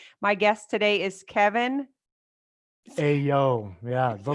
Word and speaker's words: Aillaud: It's a foreign name, so it looks nothing like it sounds.